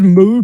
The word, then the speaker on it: MW: There's Moo, pronounced MW, which is Tezuka going very dark.